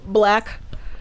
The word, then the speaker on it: BLK: on um it's called black it's called black just called black no yeah it's called blk though that's gonna be okay